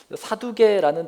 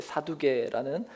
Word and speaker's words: 사두개: 사두개라는 단어는 히브리어로 사독이라는 말이고, 이걸 이제 헬라어식으로 그리스 발음으로 했을 때 이제 사두개라는 발음이 되는 것입니다.